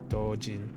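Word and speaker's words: doujin: you write that uh it's not GH it's j so it's d-o-u-j-i-n dojin there's no GH in Japanese it's DD you should be used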